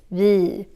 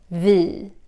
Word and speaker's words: vi: The pronunciation of the e is very nasal. It's almost like you're doing like this, vi. Especially in Stockholm, vi.